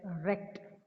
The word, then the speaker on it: wrecked: voice then comes record w w is silent here so tell it as wrecked means destroyed very very